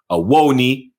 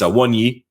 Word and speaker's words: Awoniyi: Awoni, I think it's Awonyi. I think it's Awonyi is the pronunciation.